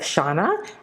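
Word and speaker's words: Xana: beautiful uh we have Shauna x-a-n-a which is uh the X in Mayan is pronounced and she's it means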